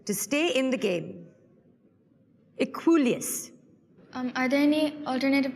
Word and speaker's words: Equuleus: Equuleus. Are there any alternative pronunciations?